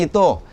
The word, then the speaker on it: Ai: Pero ang pronunciation po yun na I hindi AI.